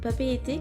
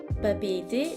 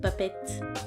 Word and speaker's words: Papeete: Et juste un point sur papeete qu'on a vu dans la leçon. Vous commencez à le savoir maintenant, en tahitien on prononce toutes les lettres et papeete s'écrit avec plusieurs E.